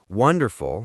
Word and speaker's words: wonderful: Again, have a becomes have a wonderful has the stress on the first syllable, wonderful.